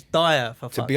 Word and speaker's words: Dyer: And I was like, his name's not fucking Deer, it's Dyer, for fuck's sake.